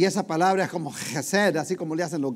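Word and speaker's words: חסד: Y esa palabra es como Gesed. Pero es difícil pronunciarla, y lo más fácil que yo hallé para pronunciarla es hacerle como le hacen los gatos.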